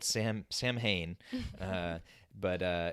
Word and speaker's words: Samhain: um roots um but it's spelled s-a-m-h-a-i-n it's it's spelled sam samhain uh but uh it's pronounced samhain and so